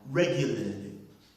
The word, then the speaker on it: regularly: the word is pronounced regularly with the just one stress there which is the primary stress on which one the